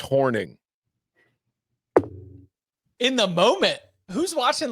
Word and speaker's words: Hornung: Paul horing or horning sources confirm it's pronounced horning in the moment who's watching live damn I'm just gonna I'm gonna out my sources yes anyway Paul horning himself is texting me